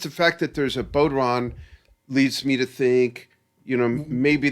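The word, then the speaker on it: bodhrán: I even persuaded Scott to add some, I forget how that's pronounced, a bodhran?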